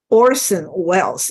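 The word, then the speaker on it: Orson Welles: also also Wells okay I'm sorry I couldn't even pronounce his name Orson Wells is his name okay he played the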